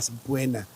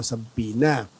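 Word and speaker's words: subpoena: sampin MM ah Syempre sa mga Pilipino saena saena po ang tawag diyan ang pronounce nila saena e pero syempre sa English po sa pina eh pag nakatanggap po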